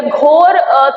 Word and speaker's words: घुरी: मोहम्मद, ये हिंदी में इसका प्रोनाउंसिएशन जो है वो बहुत अलग है, लेकिन वो कुछ किताबों में मोहम्मद गुरी लिखा हुआ है, लेकिन मोहम्मद गुरी या मोहम्मद गौरी कोई नाम ही नहीं है। इसका पूरा नाम था मोइजुद्दीन मोहम्मद घुरी। घुरी ये घोर थे जिनको कहते थे, और प्रोनाउंसिएशन आता है घुरी।